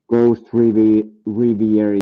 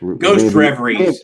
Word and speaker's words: Ghost Reveries: Maybe I would pick Ghost Riviera. Yes, how you pronounce that? Ghost Reveries is probably it. Reverie, yes.